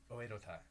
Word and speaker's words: Oedo Tai: Oedo Tai.